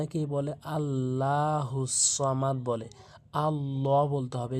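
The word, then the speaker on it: الصَّمَد: আল্লাহুস সামাদে বলতে হবে অনেকে ভুল করে বলে আল্লাহুস সামাদ বলে আল্লাহুস সামাদে বলতে হবে এরপর আসুন লাম মিম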